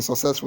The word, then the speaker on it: successful: Where is the stress in successful? Is it in the first syllable? So, or is it in second syllable or is it in the third? The answer is successful.